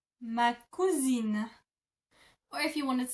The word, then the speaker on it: ma cousine: So if you want to say this is my female cousin, you would say ma cousine. Ma cousine. Ma cousine.